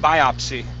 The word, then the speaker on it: biopsy: Okay, the word is pronounced biopsy. Biopsy. Okay, the stress is on the I. Instead of biopsy, it's biopsy.